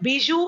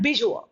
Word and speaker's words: bijou: Some people pronounce it bijou and bijou.